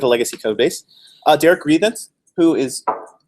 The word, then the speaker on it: Rethans: You pronounce it Rethans. Rethans.